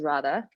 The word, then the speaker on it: Radha: My name is Radha, by the way, for anyone who doesn't know how to pronounce it.